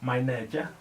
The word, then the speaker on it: Mainetje: Her name is Molatelo Mainetje. I hope I pronounced your surname right.